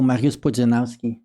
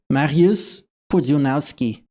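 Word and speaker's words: Mariusz Pudzianowski: So I know Mariusz Podzunowski. I know how to pronounce his name. Again. Mariusz Podzunowski.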